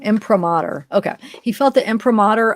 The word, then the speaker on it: imprimatur: how you say it impromatter imprimatur sorry I said that wrong imprimatur okay he felt the